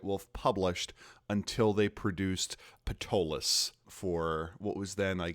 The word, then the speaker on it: Ptolus: published until they produced Ptolus for what was then, I guess, 3rd edition D&D. Sometimes I hear them pronounce it Tolus, and they're like, man, that book.